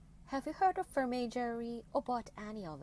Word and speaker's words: vermeil: of jewelry is a vermeil or not. Question here, what is vermeil? Vermeil (pronounced vehr-may) is a legally regulated term that refers to a certain kind of quality jewelry.